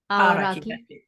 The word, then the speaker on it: Aoraki: Aoraki. Aoraki.